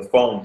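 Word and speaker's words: Fon: Israelite or Jewish no they were from the phone tribe f n the phone phone okay so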